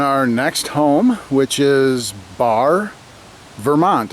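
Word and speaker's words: Barre: So, we have made it to and are all set up in our next home, which is Bar Vermont. It's pronounced bar. It's spelled B A R R E.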